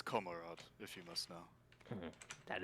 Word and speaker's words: Komarod: different story oh my orc name it's it's komarod if you must know that is an orc